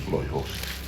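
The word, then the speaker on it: Lo'i Hoosi: Loihosi.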